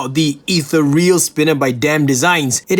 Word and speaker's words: Ethereal: overall and I must apologize that I've been mispronouncing the name I've been calling this the eal I mean sorry guys sometimes I do read